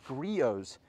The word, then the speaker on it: Griot's: so here we have griot's garage yes that's pronounced griot's despite the endless ways you'll hear it so here we have